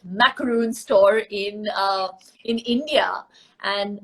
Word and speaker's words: macaron: started the whole macro that's how the French pronounce it macaron store in in India